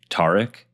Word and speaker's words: Tarik: It's pronounced Tarek? Yeah. Got it. That's the Turkish way.